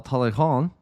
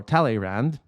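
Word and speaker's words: Talleyrand: the words of immortal Taleyrand, or Taleyrand. I try to make it kind of sound properly French, because this needs to be said in French.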